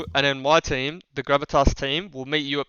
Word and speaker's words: Gravitas: I don't know how Gravitas actually.